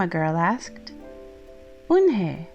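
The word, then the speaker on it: Unhei: new here what's your name a girl asked one hey said woman hey Oh nay the girl asked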